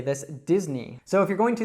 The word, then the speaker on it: Disney: It's Disney. So it's not Disney or Disney or something like that. It's actually just Disney, so that short I sound that we heard earlier.